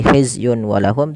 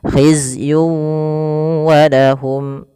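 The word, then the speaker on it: خِزْيٌ وَلَهُمْ: Masuk kan di sini ada tanwin berfal yun ketemu dengan wau. Maka cara membacanya masukkan tanwin kepada huruf wau. Tidak lagi hizyun walahum tapi langsung wau. Khizyun walahum.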